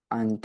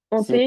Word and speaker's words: hantées: Le D de regard ne se prononce pas. D'accord? oui. Ok. Où est-ce que tu as eu des difficultés? Ante, c'est Hanté, pas, oui, c'est des pensées hantées.